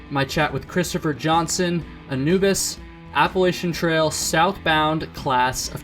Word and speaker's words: Anubis: His trail name is Anubis. Dude, how's it going? Did I pronounce that trail name right? Did I get that? Yeah, you nailed it. Anubis?